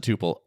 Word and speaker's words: Tuple: We pronounce it tupal. Tupppel is a totally legitimate pronunciation of that word as well.